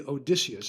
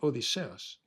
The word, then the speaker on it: Odysseus: It shouldn't be Odysseus. I mean, that's the English pronunciation. It's actually Odysseus.